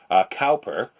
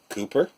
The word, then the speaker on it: Cowper: just found out that I'd already always been pronouncing it Cowper but apparently it's it's Cooper CEO WP er poetical